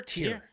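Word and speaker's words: Tyr: Is it Tier? Tier. Yeah. T Y R.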